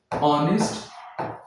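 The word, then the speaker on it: honest: बात करते हैं तो यहां पे जो एच होता है ये साइलेंट होता है। इसका कोई साउंड नहीं होता है।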